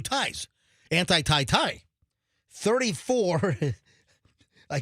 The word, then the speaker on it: Thai: So, it's anti- tie Thai. If you notice, I said two ties.